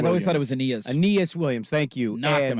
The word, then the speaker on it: Aeneas: Aeneas Williams.